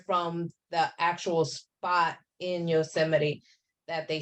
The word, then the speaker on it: Yosemite: It's not far from Yosemite.